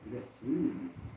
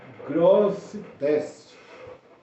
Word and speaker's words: Grosseteste: É o bispo Robert Gressines. Vou conferir aqui a pronúncia, mas é Robert Grosseteste, um bispo de Oxford, na Inglaterra, na época medieval.